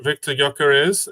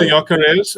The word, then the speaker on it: Gyökeres: Number 14, Victor Gyökeres.